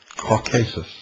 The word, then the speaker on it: Caucasus: Prometheus like Lucifer was chained and placed upon the brow of Mount Cauasus or as some pronounce it Caucasus.